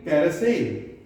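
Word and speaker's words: carousel: Easy है, यहां पर भी ए प्रोनाउंसिएशन हो रहा है, यहां पे अ, और यहां पर ई से ए। ई से कौन सी साउंड हो रही है? ए। तो ये क्या हो गई? कैरोसेल, कैरोसेल। देखिए कैसे लिखेंगे?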